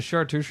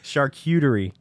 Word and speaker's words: charcuterie: stuff only works actually I actually don't know how to say it charcuterie I thought it was I thought it had like in it Char Char charcuterie I thought it was chartu Shreveport or something sure cutery I don't